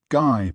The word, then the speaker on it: Guy: earned him his name guy pronounced G an unpleasant sounding name